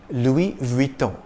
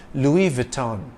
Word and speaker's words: Louis Vuitton: world's leading fashion houses the S is silent in the first name Louis if you tend to